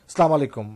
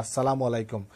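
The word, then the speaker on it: আসসালামু আলাইকুম: ঢুকে প্রথমেই যে কাজটি করতে হবে, তা ভাইবা বোর্ডে যারা থাকবে তাদেরকে আমরা সালাম দেব, এবং শুদ্ধ উচ্চারণে সালাম আলাইকুম অনেকে বলে থাকে, এটা কিন্তু ঠিক নয়, আসসালাম আলাইকুম।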